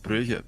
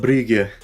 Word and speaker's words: Brugge: Oh, eClub Brugge, I mean, we're getting in there. Because you tend to call them eClub Brugge. Because Brugge is the English pronunciation.